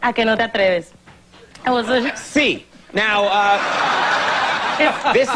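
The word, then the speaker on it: ¿A que no te atreves?: And help me if I'm pronouncing this right. A que te atreves. Is that right? A que no te atreves.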